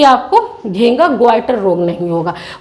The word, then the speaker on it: goitre: Okay, आयोडीनाइज salt खाएं, जिससे कि आपको घेंगा ग्वाइटर रोग नहीं होगा। वो घेंगा रोग बच्चों किसकी वजह से होता है, इसी थायरॉक्सिन हार्मोन की कमी की वजह से होता है ग्वाइटर रोग।